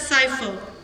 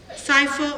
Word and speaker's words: cipher: Okay, You can also pronounce it as cipher. Cipher or cipher, both are valid pronunciation.